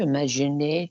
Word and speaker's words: imaginer: Je peux imaginer tu étais.